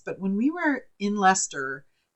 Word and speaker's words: Leicester: And some people might pronounce it Leicester or but it's L-E-I, I believe it's C-E-I-S-T-E-R. So, or C-E-S-T-E-R. It's Leicester.